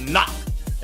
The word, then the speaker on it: NAHC: And NAHC, pronounced knock, taking first place overall and repin near the top 2.